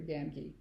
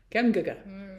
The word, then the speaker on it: Gamgee: Or Gamgee? Gamgee. I've always said Gamgee, but yeah. Gamgee, yes.